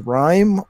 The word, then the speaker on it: RiME: ps4 specific game is rime I believe that's how it's pronounced it's capital R lowercase I capital M II so it's a third-person